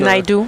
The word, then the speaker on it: Naidoo: Comment on prononce? Naidoo, oui.